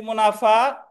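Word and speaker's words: mesne: 12 তে আছে মধ্যবর্তী মুনাফা বা ইংরেজিতে এটার উচ্চারণ হবে মিন প্রফিট ময়রশিয়ান ওই এসটা উজ্য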